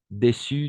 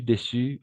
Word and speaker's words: déçues: joyeuses pour les femmes déçues déçus au niveau de la prononciation on va prononcer de la même façon dessus timide timide triste